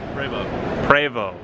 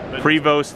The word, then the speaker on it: Prevost: Prevost. Prevost in the US. Yeah, but I don't accept that. I want to call it what it's called, Prevost, because it's French, right?